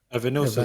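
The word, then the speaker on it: Evanilson: Evan Nilsson.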